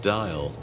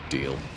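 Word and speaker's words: Diehl: We need to deal with Dial. Yeah. Someone tell me actually that's pronounced deal, which is probably true.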